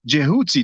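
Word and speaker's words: Djehuty: a greek way but the proper name the proper pronunciation is most likely jehuty this is also written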